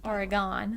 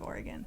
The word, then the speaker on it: Oregon: I bet yeah because some people say Oregon someone should say how you actually pronounce it Oregon we're gon just saying that's a native Oregonian it is Oregon um next I have